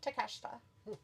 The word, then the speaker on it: Takeshita: How do they pronounce it? Takeshita? Takeshita. Takeshita. That's how you say it. There is an A at the end, but it's still take a shita.